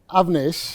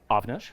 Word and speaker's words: Avnish: My name is Avnish. Avnish. That's right. All right. So Can you say my name? Avnish.